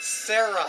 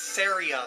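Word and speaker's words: Saria: oh and the correction it is not sarah song that normally plays in this place it's seria's song so i mispronounced that it's just something i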